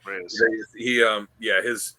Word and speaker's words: Reis: Reyes.